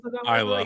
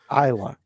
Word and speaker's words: Isla: Isla. Yeah. Isla.